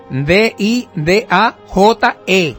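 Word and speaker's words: Didaché: Didaje, con acento en la E. Didaje.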